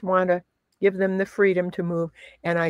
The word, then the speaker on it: Fried: because my last name is spelled Fried. So if you wrote, but we'd all rather be freed than fried, wouldn't we?